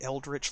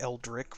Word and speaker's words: Eldritch: is rude I think his name's supposed to be eldritch like it's missing the T so it looks like Eldrick which is how I pronounced it in previous streams when we've met him but honestly like I think that it's supposed to be eldritch you know like for magical or occult because he's the elf